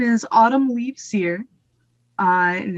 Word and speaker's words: Cyr: And then it's Cyr. So I guess I'll put on my best French accent.